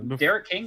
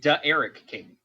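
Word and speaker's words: D'Eriq King: Derek King it's actually pronounced Eric King Eric yeah like there's supposed to be some apostrophe in there I wish I don't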